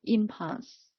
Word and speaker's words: impulse: impulse to repeat yet the stress is on the first syllable impulse and also nothing more